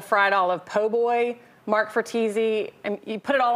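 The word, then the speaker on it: Fratesi: The Fratese Grocery and Service Station, I pronounce that right?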